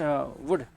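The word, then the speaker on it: would: अच्छा फिर क्या होगा देखिए, क्या ये वुड है या वुड है? इट्स वुड, ठीक बात है। लल्लो इज साइलेंट, तो एल के बाद जब आता है ना डी, तो नॉर्मली क्या होता है, ये एल साइलेंट हो जाता है आपका, ठीक बात है।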